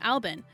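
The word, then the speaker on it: Albin: numbers off the floor the couple then said you pronounce this as alban a fairly common name in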